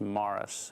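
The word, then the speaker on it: Maras: was moris m a r a s but pronounced Mars and um there were different theories on why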